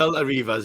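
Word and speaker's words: Belta Reivers: Am I pronouncing it right, first of all? The Beltin Bang on, Reivers. mate. The Beltin Reivers.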